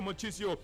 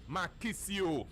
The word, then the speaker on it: Marchisio: Manju to do kitsch let's say that Claudia mochi CEO is of course not left after calling my real name and of course correct pronunciation is Claudio Marchisio what about Marco Yakka it is not marco